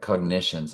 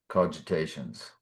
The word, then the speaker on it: cogitations: Cogitations. Cogitations. Is that what I said? Cogitations. Cogitations. Yeah. It's cogitations, but I always want to say cognition or something.